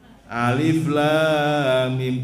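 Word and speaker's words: الم: Alama. Loh, kok alama sih rek? Mesti ini apa? Alif lam mim diwaca alama. Mboten alama, Bu, alif lam mim.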